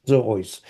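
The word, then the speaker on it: ζῴοις: Zoois. Okay, got it. The iota is a iota subscriptum, so it's not pronounced.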